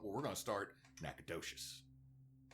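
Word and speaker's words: Nacogdoches: The problem is is there's Nacadesh Louisiana and Nacadocious Texas and they're not spelled the same but they sound similar.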